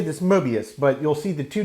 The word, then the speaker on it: Möbius: in german so it makes almost a cross between uh uh a glottal stopped o and an er sound so it's mobius medius and um it's not mobius though anglicized it probably would be pronounced that way but the emblem